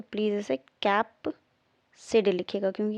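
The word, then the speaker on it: capsid: कैप्सिड है बेटा, कैप्सिड, here it is also right, कैस्पिड नहीं है, कैप्सिड है, ओके।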